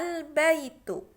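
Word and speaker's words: البيت: baik-baik baca annanah Hai albaitu albaitu Kenapa dibaca albaitu karena sebelum sebelum di sini ada alif lam ada alif lam aturannya dia bacanya baetun karena ada alif lam dibaca albaitu rumah itu rumah itu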